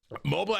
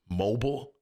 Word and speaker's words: Mobile: down here is that when I call that place Mobile, people get mad because I pronounced mobile my whole life, mobile. And so down here, I say mobile, and they go, no, mobile.